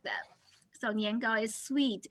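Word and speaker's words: 年糕: Niangao is one of the two major like snacks, right? For Chinese New Year, niangao has the same pronunciation with niangao, which means every year you go up.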